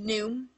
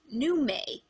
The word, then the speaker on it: Nume: It wasn't originally supposed to be pronounced Noom, it was pronounced Nume.